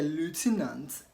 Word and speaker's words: lieutenant: and not depth okay in American the lieutenant paid attention to the pronunciation of ways during the recitation the lieutenants paid attention to the pronunciation of ways during the recitation that is in American English because of lieutenant in British you want